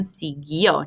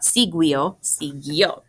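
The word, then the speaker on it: siguió: pronounce the word again sigyo not siguio the only job of the u here is to keep the g as a g because if it weren't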